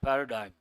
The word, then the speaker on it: paradigm: G is silent paradigm.